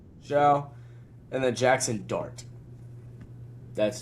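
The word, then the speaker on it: Shough: 21 to 25 is Kyler Murray, Aaron Rodgers, Daniel Jones, Tyler How do you pronounce his last name from the Saints? Show. Show.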